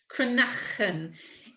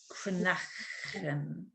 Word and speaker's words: cranachan: Cranachan. It's like there's two C's in it, but there's not. Cranachan.